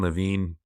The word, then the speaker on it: Levine: a guy named Matthew Levine Levine LaVine like Adam Lavine it's spelled Levine he won a the